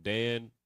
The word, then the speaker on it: Dan: But Dan, you know what I mean, just for the sake of the breakdown, Dan in the Hebrew is pronounced Dan, right?